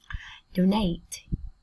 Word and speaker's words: donate: Donate. Donate. Trọng âm đơn tiết thứ hai em nhé.